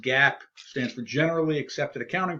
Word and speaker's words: GAAP: GAAP, pronounced GAAP, stands for Generally Accepted Accounting Principles.